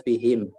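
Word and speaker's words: بِهِم: tidak berubah cuma Nanti kadang-kadang dibaca Um kadang-kadang dibaca him itu tergantung dari harokat sebelumnya aku ya kalau harokat sebelumnya itu adalah apa rumah ya Hah atau Fatah maka dibacanya dengan Um tapi kalau harokat sebelumnya itu adalah kasrah ya kita bikin misalkan kita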